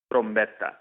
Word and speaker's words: Trombetta: Trombetta.